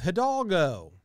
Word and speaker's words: Hidalgo: They changed the name because they believed it to be an anagram of Hidalgo, the third best horse racing movie ever made. But they omitted the silent initial H, which, I don't know,